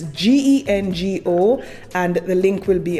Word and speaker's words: Gengo: The next company is Genco. And again, I may be mispronouncing this. It's Gengo, and the link will be on my Patreon.